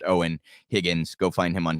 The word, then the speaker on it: Eoin: names a little bit it's spelled weird e-i-o-n pronounced owen higgins go find him